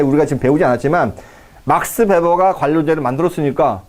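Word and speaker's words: Weber: 웨버가 아니라 베버입니다. 독일 사람들은 W를요 B라고 읽으니까요. BMW잖아요. 뱀배 이렇게 읽으니까요. 베버의 관료제론에 대한 설명으로 옳지 않은 것은, 자, 볼까요?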